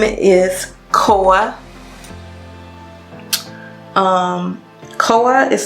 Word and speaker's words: Koa: Your girl right here, her name is Koa. Koa is spelled K-O-A.